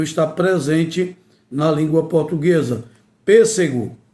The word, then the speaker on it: pêssego: Pêssego tem um acento circunflexo e é uma palavra proparoxítona. Exatamente porque a antipenúltima é a sílaba mais forte. Mas se retirar o acento, a pronúncia fica diferenciada, fica prejudicada e essa palavra não existe. Pessego é uma palavra que não existe na língua portuguesa.